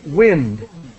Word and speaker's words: wind: sorry and and just the pronunciation is wind we wind like uh to win to win a game so wind that's the pronunciation okay yeah now that word can be pronounced the other way uh but it's a different verb yeah or or i'm sorry it's a verb yeah yes right when you wind your clock yes exactly yeah right